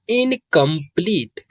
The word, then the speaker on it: incomplete: और E का pronunciation नहीं होता। तो ये हो जाएगा इनकम्प्लीट।